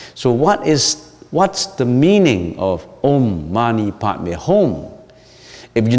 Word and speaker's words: Om: What is Om? Om. In the romanization of the sound is O-M, Om.